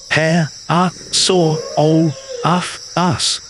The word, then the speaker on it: Parasaurolophus: To pronounce Parasaurolophus, repeat after me. Parasaurolophus.